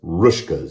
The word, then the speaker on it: Hruska's: But Hruska's, or actually, I think it's just pronounced Rushkas. You don't pronounce the H, but there is an H on the front. The H is silent.